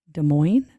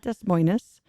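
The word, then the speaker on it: Des Moines: Iowa I was like De Moine Iowa honey not Des mois that's not how you say it so what Kinks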